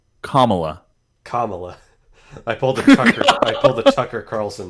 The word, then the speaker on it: Kamala: Kamala. I pulled a Tucker Carlson there. Actually, no. Tucker Carlson pronounced it Kamala, like Pamela.